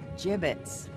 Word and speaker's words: gibbets: Gibbets? What? It's pronounced gibbets.